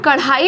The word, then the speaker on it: कढ़ाई: अगर हम कढ़ाई लिख रहे हैं, एग्जाम्पल के लिए देखते हैं कढ़ाई, तो हम ऐसे नहीं लिख सकते हैं, ये कढ़ाई हो जाएगा, इसके नीचे एक बिंदी लगेगी, तो इसका प्रोनाउंसिएशन जो होगा वो ड ढ की जगह ड़ ढ़ होगा। कढ़ाई, पढ़ाई, ऐसे बहुत सारे